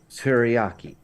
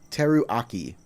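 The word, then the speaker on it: Teruaki: to a toy uh teriyaki okay however it's properly pronounced it not Teriyaki not teriyaki the r-u-a-k-i Teru Aki harlaki that is correct all right for uh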